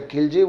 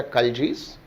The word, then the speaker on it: Khalji: Generally we called them as a Khilji, we should pronounce them as a Khaljis.